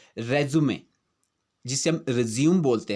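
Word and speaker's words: résumé: ये रेज्यूम नहीं है, यहाँ पर हम इसको जो है रेज्यूमे बोलेंगे, क्योंकि ये है हमारा जो डॉक्यूमेंट होता है जिसमें हम अपना बायोडाटा लिखते हैं। इसका जो उच्चारण होता है रेज्यूमे होता है।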